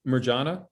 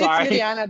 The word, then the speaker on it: Mariana: heard um is it marjana is that how you pronounce your name it's really refreshing to hear my name pronounced the the only way in the u.s it's it's mariana because no no no